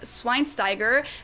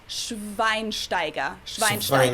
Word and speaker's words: Schweinsteiger: wrong speakers call him swine steiger the sch is actually pronounced like a sh sound and then the e